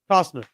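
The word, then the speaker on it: Costner: is it is a Cosner or coer Cosner Cosner Cosner Cosner so little so it's like silent no cner you not hear the T in there anyway to quote the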